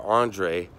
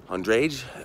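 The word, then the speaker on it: Andrej: bedrooms so his father Andre Andres Andre it's hard to pronounce cuz there's a J at the end chose this house they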